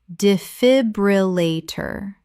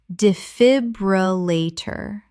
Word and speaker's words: defibrillator: hyperbole Word 62 defibrillator common mispronunciation defibrillator correct pronunciation defibrillator Five syllables. The stress is on the second syllable.